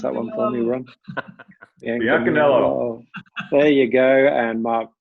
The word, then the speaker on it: Biancaniello: But Ron Tarter, Biancaniello, go on, pronounce that one for me, Ron. Biancaniello.